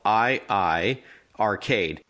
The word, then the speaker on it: iiRcade: And for our listeners, iiRcade is spelled I-Arcade.